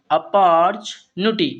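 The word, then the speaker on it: opportunity: तो इस वर्ड का हिंदी उच्चारण होता है अपॉर्चुनिटी।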